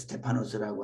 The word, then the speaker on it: 스테파노스: 스데반 우리식으로 발음하면 스데반으로 불렀고 헬라어로는 스테파노스입니다. 그래서 스테파노스라고 하는 이름을 많이들 좋아합니다.